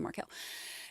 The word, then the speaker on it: Markel: get your own pronunciation I still slip into Marco instead of Marquel the Marquel bill was